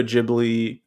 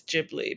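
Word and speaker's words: Ghibli: it about the studio jibli I'm saying that right jibli I was to say gibli jibli and uh well maybe maybe in English it is gibli in Japanese it's jibli but I don't know yeah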